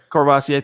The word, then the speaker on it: Courvoisier: Been drinking how do you pronounce that, Zach? I don't know. Courvoisier.